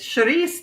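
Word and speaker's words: chouriço: We call the Portuguese sharice. It's sharice though is how you say it, right, Fatima?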